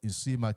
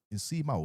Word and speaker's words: Nsiima: about the arrest of Isima Clive I think I've been mispronouncing the name is inima is one of the